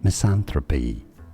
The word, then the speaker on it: misanthropy: Misanthropy. 4 syllables. Me. San. Thra. P. I disagree.